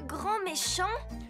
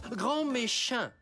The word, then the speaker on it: Grand Méchin: vous vous appelez monsieur grand méchant ça se prononce grand Méchin et ça sera au